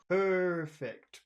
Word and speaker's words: perfect: of perfect Stillness yeah you don't want to go too quickly through per because that R is a throat sound so it's perfect it's a big sound perfect perfect Stillness perfect